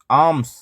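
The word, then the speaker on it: alms: में क्या कहेंगे इसको आम्स एल साइलेंट है एल साइलेंट है इसमें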